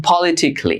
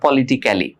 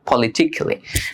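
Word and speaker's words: politically: যেমন পলিটিক্যালি, নট পলিটিক্যালি, পলিটিক্যালি।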